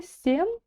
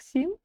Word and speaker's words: сен: жаста МН жастан дальше Сен Хай да т ранн Хай да тран Сен значит Сен никаких СН никаких и никаких Син Сен значит Сен Дальше